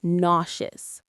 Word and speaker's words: nauseous: It's a tricky word to spell and say. It looks like it should be nauseious, but it's not. The sound is nauseous. Nauseous. The stress is on the first part.